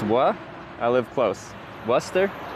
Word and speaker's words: Worcester: Worester. Worester. It's not wora.